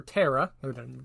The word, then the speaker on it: ptera: The name Megaloptera comes from 2 Greek words meaning large and ptera, or terra, not pronounce a P, meaning wings.